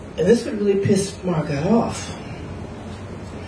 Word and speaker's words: Margot: And this would really piss Margot off. "My name is Margot." "No, no, no, no, no. The T is silent."